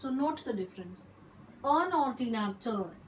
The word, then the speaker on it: un ordinateur: Un ordinateur, N is pronounced.